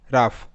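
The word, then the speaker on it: rough: র ও ইউ জি এইচ আফ র আফ রাফ রাফ next E এন ও ইউ জি এইচ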